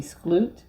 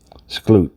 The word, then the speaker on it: Skloot: named Rebecca, and I'm not sure how to pronounce her last name. It may be Skloot. Skloot.